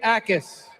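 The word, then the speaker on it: Jacas: England Patriots select Gabe Ais, linebacker, Illinois. Gabe Ais. Oh, Gabe Atkins had 11 sacks, second in the Big 10 last year. The Jay in his name is silent.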